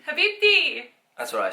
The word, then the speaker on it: Habibti: Habibti. Habibti.